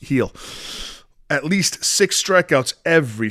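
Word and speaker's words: Gil: Yankees at Milwaukee Brewers we're in back Luis heel here over six and a half strikeouts Yankees it's spelled g that's where you found it that's where you're going to find it but it's pronounced heel at least six strikeouts every start this season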